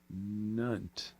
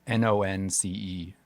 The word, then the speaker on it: nonce: Nunt. It's Nonce. Oh, N-O-N. What is it? Nonce. Wait, what? Could you spell it?